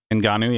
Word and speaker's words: Ngannou: When I saw Ngannou, is that how you say it? Ngannou, yeah.